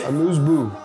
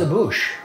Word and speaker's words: amuse-bouche: Amuse-bouche. Amuse-bouche? I thought it was a bouche.